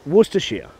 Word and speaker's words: Worcestershire: dab of um well i don't know why people can't pronounce this but it's worcestershire worcester sheer source not that hard to pronounce but people try and say it phonetically and that doesn't work okay that was fun